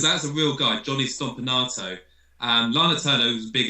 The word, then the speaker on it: Stompanato: How do you pronounce that? Stompanato.